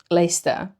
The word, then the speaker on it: Leicester: Like take the word Leicester, which is also one of the underground stations, and is written Leicester. So there's syllables in the middle that they vanish.